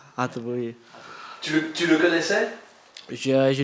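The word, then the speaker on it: Hateboer: Hatteboer. Ha, avec un H. Hatteboer, oui.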